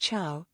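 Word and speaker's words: Ciao: pronounced Chow, like the Italian way to say bye.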